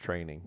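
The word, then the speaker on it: train-eng.com: at our website at train minus sign Eng comm pronounced training this is our CWI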